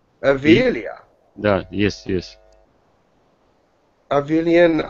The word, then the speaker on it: Avelia: Adelia? Adelia? Yes. Avelia. Did I say it wrong? A-V. Avelia.